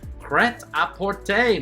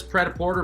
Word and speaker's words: prêt-à-porter: In fashion, what does the term prêt-à-porter mean? 45 seconds on the clock, starting now. In fashion, what does pret-a-porter mean? Pret-a-porter, not the correct pronunciation. Prêt-à-porter is much closer and more fun to say.